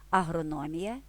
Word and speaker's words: агрономія: насамкінець ще кілька порад агрономія кулінарія ці іменники є похідними від нас професії Агроном Кулінар придивимося до цих слів що помічаємо те що наголос у похідних словах зберіг свою позицію нікуди не перемістився Агроном агрономія Кулінар кулінарія